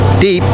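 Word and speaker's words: द्वीप: Netaji Subash Chandra Bose deep the W is silent deep meaning Island Bose was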